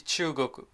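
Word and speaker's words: 中国: in Japanese India is Indo and China is Chugoku I'm going to make a separate video to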